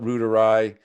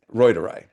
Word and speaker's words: reuteri: Some people call it reuteri. The correct pronunciation, cuz I speak German, is reuteri.